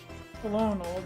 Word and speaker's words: colonel: We pronounce colonel with an R because we borrowed it from Middle French, and Middle French pronounced and spelled it with an R. So even though it's spelled with an L, we say it like we're French, apparently.